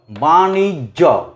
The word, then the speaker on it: বাণিজ্য: বাণিজ্য, বাণিজ্য, বাণিজ্য, বাণিজ্য। জকে উচ্চারণ করব কিন্তু একটা অল্প একটা জোরে।